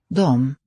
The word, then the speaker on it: de: This pronoun they and them, they became a single form in Swedish, and we just write D, Sjunger. but it's pronounced with that M. De.